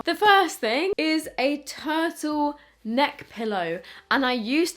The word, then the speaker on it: TRTL: This is by the brand called Turtle, which is spelled like this, TRTL.